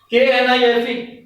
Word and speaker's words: knife: K is silent here k n i f e K is before n k will be silent and the pronunciation will be knife not connected okay in